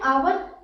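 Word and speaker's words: hour: next देखें आवर, यहाँ पर एच आपका साइलेंट होता है, तो यहाँ पर आ से बनता है, तो यहाँ पर क्या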